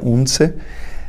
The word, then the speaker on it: Odense: vou me arriscar a a pronúncia em dinamarquês seria unse eh se não me